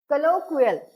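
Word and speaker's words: colloquial: बघा एकदा नेक्स्ट बघूया नेक्स्ट वर्ड काय आहे कलोकल सी O double L ओ क्यू य आय एल प्रोनन्सशन काय आहे याच कलोकल कलोकल कल काय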